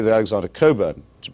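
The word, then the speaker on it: Cockburn: American domiciled person I should say the otic Cobra to pronounce his name correctly is a very valued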